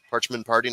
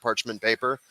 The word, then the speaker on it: Parchment Party: I said it right. Parchment Party, not Parchment Paper.